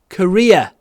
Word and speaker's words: career: This could ruin my career. А здесь уже career, потому что конечный. Career. Кстати, Korea произносится как страна. Korea. Это тоже Korea.